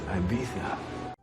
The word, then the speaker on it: Ibiza: It's almost like your cash cow would rather be partying in Ibiza than bearing milk for you, Dana. It's pronounced Ibiza.